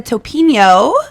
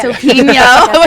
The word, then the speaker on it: Topinio: And we have the gorgeous Topinio. Hello. Did I say it right? Yes. Okay, perfect. Yeah. Topinio.